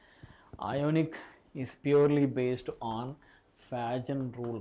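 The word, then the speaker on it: Fajans: is purely based on Fagen rule right Fagen some people pronounce it as Fagan okay you made a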